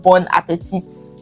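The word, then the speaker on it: bon appétit: It's called Bon Appetit. Appetit. Why will I pronounce the T? Bon appetit. But it's Bon Appetit.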